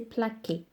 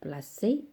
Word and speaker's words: placé: les trois premières personnes, si je ne mets pas l'acide, ça va prononcer plaqué. Donc, je vais obtenir le son que. Mais moi, j'ai le son s dans l'infinitif placé et non plaqué.